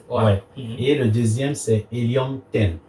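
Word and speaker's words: Helium 10: et le deuxième c'est helium ten donc hium comme l'éum ouais comme de l'éum 10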